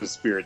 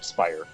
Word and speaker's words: Speier: My last name pronunciation, not instead of Spirit, Speier.